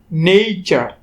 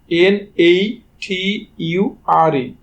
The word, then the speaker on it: nature: যদি এমন হয় স্ট্রাকচার কোনো শব্দের, সেক্ষেত্রে টি এর উচ্চারণ হয় চ এর মতো, আর ইউ এর উচ্চারণ হয় আ এর মতো। যেমন NATURE, এখানে উচ্চারণ হবে নেইচার, NATURE।